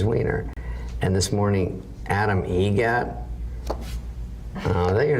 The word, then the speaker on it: Eget: Adam Eget, Eget.